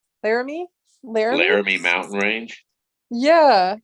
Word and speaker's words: Laramie: I think the Larmies. I can never say it right. Laramie, Laramie.